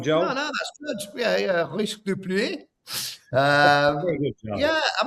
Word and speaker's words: Risque de Pluie: Joel's quite good at pronunciations, aren't you, Joel? Go on, Joel. No, that's good. Yeah. Risque de Pluie.